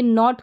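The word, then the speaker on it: knot: गया और यहां पर देखिए के और ए का जब कॉमिनेशन साथ में रहेगा तो ये नॉट करके प्रोनाउंस हो रहा है मतलब कि के जो है ना वो साइलेंट है प्रोनाउंस नहीं होगा जैसे नॉट हो गया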